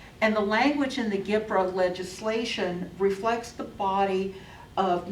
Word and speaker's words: GPRA: The Government Performance and Results Act, which is pronounced GPRA, G-P-R-A, mandated that all federally funded programs be able to establish performance goals and measure results.